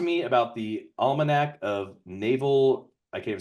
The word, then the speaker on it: Naval: need I still need to read so Naval Naval is how you pronounce it actually it's Naval he grew up he was a a poor